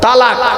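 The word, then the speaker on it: طلاق: খবরদার শব্দটা তালাক নয়, তালাক নয় শব্দটা, শুনে যান। শব্দটা হলো তলাক। তলাক কি বললাম? তলাক বলো। আরবি উচ্চারণ কি? তোয়ে লামালিফ কফ। বাংলা উচ্চারণ কি? তয়ে বয়ে লয়াকার ক।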